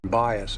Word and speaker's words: bias: But even you can agree that a confirmation bias is a dangerous thing. When pronouncing this word, it's pretty simple and straightforward. There are two syllables. The stress is on that first syllable. Bias.